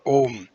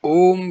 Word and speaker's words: Om: then what remains will be the Saphota or Om.